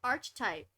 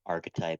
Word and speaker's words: archetype: ground yeah he's 16 you weirdo key9 myth Arch type yay okay we're almost done y just so you know it's pronounced archetype and you've been pronouncing it wrong this I